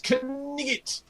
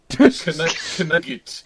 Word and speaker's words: knight: goes, "You silly English knigget." And I was like, okay. And I had no idea what that was. It just sounded funny. But that is the correct medieval pronunciation of the word knight. Knigget.